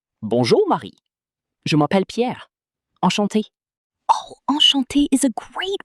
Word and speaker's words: enchanté: If a woman says it, she adds an extra E at the end when writing. Enchanté. But it sounds exactly the same out loud, right?